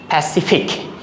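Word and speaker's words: Pacific: হার উচ্চারণ হবে তাহলে এটা যদি আমরা একসাথে উচ্চারণ করি হবে কি প্যাসিফিক প্যাসিফিক প্যাসিফিক তাহলে এটা হার এটা সলিয়ার এটা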